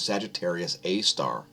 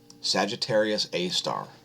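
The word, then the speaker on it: Sagittarius A*: way galaxy known as sagittarius a star it's spelled like this sgr a asterisk sagittarius a star nothing exciting happening there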